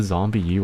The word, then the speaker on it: ZombiU: Is it zombie U or zombie or zombie? Zombie U. It's pronounced as you.